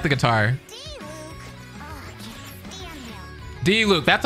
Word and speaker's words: Diluc: D-Luke.